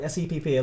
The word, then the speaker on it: SEPP: All right, SEPP. Lots of people giving you love. Okay, so your time starts in 5, All right. Okay. 4, 3, 2, 1. All right. Well, first and foremost, it's pronounced SEP.